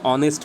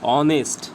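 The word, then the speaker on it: honest: অনেস্ট, তো এখানে দেখো এইচটা কি সাইলেন্ট হয়ে যাচ্ছে, সাইলেন্ট এটাকে বলে, মানে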